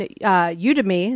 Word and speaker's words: Udemy: But I will say, like, finding you and a little class you did on Udemy.